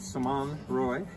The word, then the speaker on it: Simonne Roy: and I'm here with Simone Roy and she's from Lewisburg Pennsylvania I've just seen that because I'm practicing the French pronunciation of her name I was pretty good